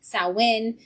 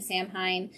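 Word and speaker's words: Samhain: as I just said with a sowin not being Sam Hein Selwyn is is spelled completely different than how it said and it also takes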